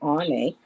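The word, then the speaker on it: Áine: And her name is pronounced Ane.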